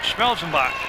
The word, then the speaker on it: Schellbach: the hook there and they pronounced it schellbach for me so hopefully I've got